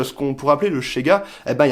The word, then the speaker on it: ZEGA: Et on rappelle aussi que le Z se prononce CH dans la langue nesquatienne. Donc du coup, Chega.